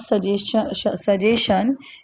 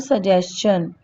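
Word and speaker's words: suggestion: ठीक है, इट इज नॉट सजेशन, इट is called सजेशन। ठीक है, जब भी STION होता है किसी भी वर्ड के लास्ट में तो उसका प्रोनाउंसिएशन चन बन जाता है ना, लाइक सजेशन।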